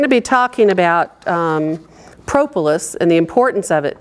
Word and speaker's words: propolis: was the queen of propolis research in America and she also pronounces it propolis because it's before the city so they feel that that's a long o now Kim plottum is